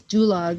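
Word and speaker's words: Dulag: of lette in dulog dulog rhymes with gulag for a reason we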